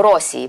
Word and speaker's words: Росія: наші бабці і дідусі вони наголошували це на першому складі де поїхав до Росії поїхав правда наголос був